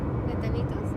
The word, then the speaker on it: platanitos: Platanitos. Platanitos. Pla. Ta. Ni. Ni. Tos. Tos.